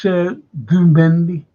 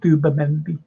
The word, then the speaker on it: Zubimendi: So they'll all be going around saying Zubimendi. Zubimendi. It's like that. You know that like, in Indian, Mendi is the thing that the women put on their hands before they get married. It's called Mendi. So do my Mendi.